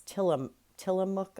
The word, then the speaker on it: Tillamook: It's Tillamook, I believe you pronounce it.